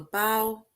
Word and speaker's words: bow: For example, the actors leaned over and took a bow. So these are now words, it sounds different, right? Took a bow. So this bow rhymes with how.